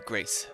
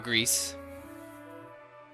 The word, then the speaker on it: Grace: a peasant amongst the grace of myself. And everyone around him like vows and says, "You're Greece." They say it wrong every time. No. Oh, Grace. See, he said it right.